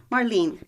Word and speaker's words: Marlene: Following the solo performance piece featuring, do you pronounce it Marlene or Marlene? Marlene.